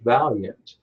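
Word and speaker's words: Vaillant: college and most security professional jobs the Georges valiant his name is actually spelled the Aila EMT you would think of be pronounced availing when it's pronounced about yet he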